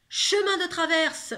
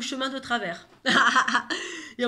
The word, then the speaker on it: chemin de Traverse: L'incantation, c'est chemin de traverse ou chemin de travers. Et en fait, il se trompe. Au lieu de dire chemin de traverse, c'était le chemin de traverse, ça correspondait au lieu où devait aller.